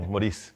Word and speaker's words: Moris: del bolsillo del mexicano moriz Muchas gracias Fernando Qué gusto estar aquí compartiendo por dos cosas número uno por la invitación y número dos porque mencionaste mi nombre exactamente como se pronuncia Y eso es difícil